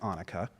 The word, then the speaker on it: Annika: Remind me that it is pronounced Annika.